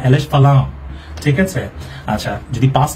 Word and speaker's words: falam: এটা হচ্ছে আপনার FALAM, বাট এই এমটা এম এর মতো উচ্চারণ হবে না, এলেস ফালাও।